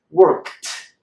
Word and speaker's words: worked: We transform the D into a T. So the sound is worked.